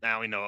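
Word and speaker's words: Mauigoa: His last name Maui Goa. Is that how you say the Maui last name? Noah. Maui Noah. Okay, I've heard this Yeah. pronounced legitimately 5 or 6 different ways.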